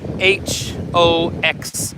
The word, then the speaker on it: Hoxha: So if you don't remember Enver Hoxha, and it's Hoxha is how they spell it. So that X is obviously just sound in this language.